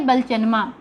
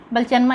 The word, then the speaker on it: बलचनमा: उसके बाद है ये बलचनमा। दोस्तों इसके उच्चारण में भी बहुत गलती हो जाती है। कितने लोग इसे बलचनामा या फिर बलचनमा, इसका जो होता है बलचनमा।